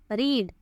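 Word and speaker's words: read: है पढ़ना होता है रीड और रीड की सेकंड और थर्ड फॉर्म होती है रेड इसको पढ़ते तो रेड है लेकिन लिखने में इसके spelling R ई ए डी रीड जैसे ही होते हैं उसने अपने पसंदीदा मुसन्निफ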